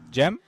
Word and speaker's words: Cem: Oh, because maybe in uh are you Turkish, right? In Turkish you say Cem?